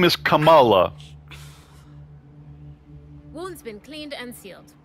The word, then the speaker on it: Kamala: it's freaking Cala Harris it's not Camala Kamala Harris the name Kamala is Indian okay it's a brown